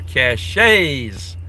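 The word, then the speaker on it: cache: good for burying for cashs yeah I know it's pronounced cash I call them cashet just like I call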